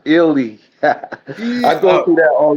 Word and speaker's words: Ealy: It's pronounced Ealy. I go through that all the time, man. Don't worry about it. It's Ealy. A lot of people pronounce it, but it's pronounced Ealy.